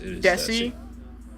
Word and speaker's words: Dessi: How do you pronounce it? Is it Dessi? Yeah, the first one, yeah, it is Dessi?